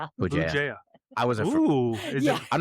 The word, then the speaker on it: Bugeja: BJA.